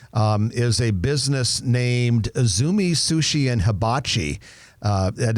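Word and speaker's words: Izumi: application for remodel um is a business named isumi Sushi and Habachi uh that is isumi is spelled Izu Mii isumi Sushi and Habachi there's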